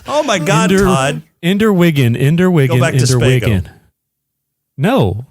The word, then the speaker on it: Wiggin: Yeah, you didn't say it right once. Young Ender Wiggin is recruited by the you said Wiccan the first time. The first time, and then I had to fucking say it right the second time.